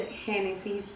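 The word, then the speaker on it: Génesis: address myself as genesis because i'm latina and here my name is spelled hennessey's but if i told you guys my name is hennessey i am 99 sure you will mistake it for the liquor no i'm not hes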